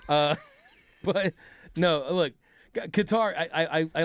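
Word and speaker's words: Qatar: that is that like the only disagreement we have is how to pronounce it. Yeah. I'm a I'm a guitar guy. Are you a guitar guy? No, you're going cutter, though. I I like cutter.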